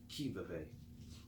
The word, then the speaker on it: qui vive: Thus, without waiting to be marshaled, the soldiers will be constantly on the qui vive. Can someone look up what qui vive is? It's spelled Q-U-I-V-I-V-E.